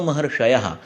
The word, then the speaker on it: महर्षयः: यानी इतिहस्माहु रात्रेयादयो महर्षयः, इसका उच्चारण आप इतिहस्माहु आत्रेयादयो महर्षयः ऐसा भी कह सकते हैं। और इसमें फिर से श नहीं, श आ गया, महर्षयः, इस तरह से।